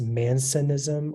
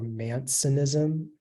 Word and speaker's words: mancinism: It can be pronounced Mansonism or Mansonism.